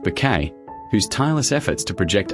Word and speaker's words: Bucket: At the centre of it all was Hyacinth Bucket, always pronounced Bouquet, whose tireless efforts to project upper-class perfection were constantly undone by her down-to-earth family.